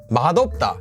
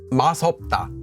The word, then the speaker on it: 맛없다: why masita meaning to be delicious is pronounced as mashita however Mata to not be delicious to not taste good is actually pronounced as mopa madta not masop first of all thank